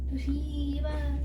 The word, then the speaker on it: Toshiba: That's how it's pronounced. Toshiba.